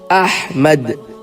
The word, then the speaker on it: احمد: الف ہے میم دال۔ وہ احمد نہیں ہے، وہ احمد بھی نہیں ہے، وہ ہے احمد۔ اسی طرح نام محمد